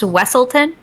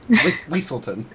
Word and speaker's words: Weaselton: Now, is his name pronounced Wesselton? Or is it Weaselton? Weaselton.